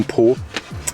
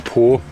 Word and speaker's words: Pau: Ouais, et j'étais plié de rire hier à cause du nom Po. Enfin, en français, ça s'écrit Pau, mais Po, ça sonne comme les fesses.